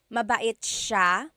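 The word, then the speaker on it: siya: the SI i y it's a sha sound sha and then another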